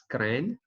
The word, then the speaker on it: CRAN: to download are okay go to crank the CRA n we pronounce it as crane to download and install our